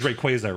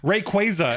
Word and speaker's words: Rayquaza: that's a problem because Ray and Quay are now both stressed. That's why we all say that's why we all said Rayquaza up until we watch the anime. Um, Rayquaza is not natural.